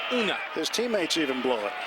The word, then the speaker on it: Unga: The G is almost silent, so it's like Unga.